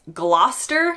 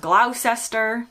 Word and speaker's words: Gloucester: It's Gloucester, like Gloucester Road, not Gloucester.